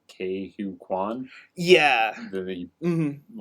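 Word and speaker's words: Ke Huy Quan: Oh, Because for how do you pronounce his name? Ke-Huy Quan.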